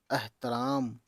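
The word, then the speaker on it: احترام: राहतरा और ये मीम एहतराम तो देखिए अलिफ और बड़े ह ज़ अ होना चाहिए लेकिन यही चीज है इसका प्रोनाउंसिएशन ए होता है एहतराम ठीक है?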